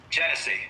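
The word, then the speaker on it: Genesee: Union Pacific transfers local service in Oregon to Jessie and Wyoming Central Oregon and Pacific Railroad did I say that right janesse is that what how you say it jice and Wyoming genese there we go Jesy and Wyoming there we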